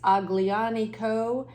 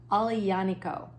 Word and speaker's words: Aglianico: because it's pronounced differently it looks like it's aglianico but it's actually pronounced differently and I heard them do it and I had to have it phonetically there Ali yaniko is how it is